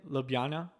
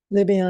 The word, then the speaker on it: Ljubljana: How do you pronounce that again? Ljubljana. Ljubljana, Ljubljana.